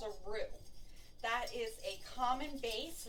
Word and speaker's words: roux: in this way you make what's called a roux that is a common base it's spelled r-o-u-x that's a common base for many